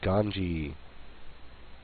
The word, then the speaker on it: Ganzi: He is Ganzi, and his Z is pronounced as a J in Hangul.